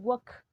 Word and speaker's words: walk: al final entonces i walk recuerden que no se pronuncia la l ni a tocar se pronuncia solo la acá entonces waka y en este caso